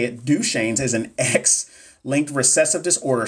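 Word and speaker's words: Duchenne: I just found out how to say it duch shanes is an xlink recessive Disorder so daughters have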